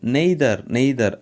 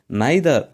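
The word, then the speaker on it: neither: இதை நிறைய பேர் நெய்தர் அப்படின்னு சொல்கிறாங்க. அப்படின்னு சொல்லக்கூடாது. இதை இரண்டு விதமாக ப்ரொனவுன்ஸ் பண்ணலாம். ஒன்று நைதர் அப்படின்னு சொல்லுங்கள், அல்லது நீதர் அப்படின்னு சொல்லுங்கள். ஓகே, நெய்தர்னு சொல்ல வேண்டாம்.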